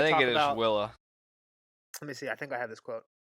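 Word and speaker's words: Wylla: my eyes out for Willa. Any mentions of that name? Willa. That's how you say it. Wyla. That's how I say it. I say Willa. Fuck Willa. That doesn't sound right.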